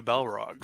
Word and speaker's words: Balrog: Well, Gygax did have a player playing a Balrog, so in one of his campaigns. So I guess there's precedent. Only if you can pronounce it correctly. You have to roll that R.